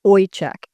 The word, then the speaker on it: Ojczyk: And in Polish, the J is a Y pronunciation. In Poland, it's Oek.